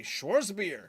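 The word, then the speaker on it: Schwarzbier: Bangz Schwartz Schwartz beer you don't say the r you do but it's like really mellow also isn't a w pronounced like a vatz y there you go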